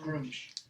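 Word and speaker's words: Gruumsh: Yeah, it's pronounced Groomish.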